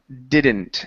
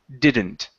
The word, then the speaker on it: didn't: And our last one is the word didn't. Okay, give me a short I instead of didn't. It's didn't. Didn't.